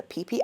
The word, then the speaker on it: Phi Phi: Right there, we are boarding the boat that will take us to the Pee Islands. Yes, that is how you pronounce it. Pee Islands.